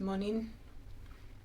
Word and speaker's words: Monin: into is the moaning it's French so I think it would be pronounced monin their syrups are incredible